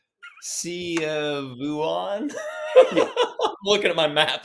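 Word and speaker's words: Szechwan: I saying that right how do you say it I say it uh see vuan I'm looking at my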